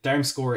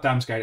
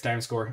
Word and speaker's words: Damsgaard: uh durham score it down score is a better pronunciation it's not damn scared it's down score i appreciate that rune